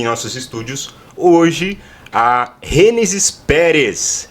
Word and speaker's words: Gênesis Pérez: nossos estúdios hoje a Gênesis Pérez. É isso, né? A pronúncia está certa. Gênesis Pérez. Eu vou chamar ela de Gênesis Pérez aqui, vou dar uma brasileirada, uma portuguesada no teu nome, não tem problema, né?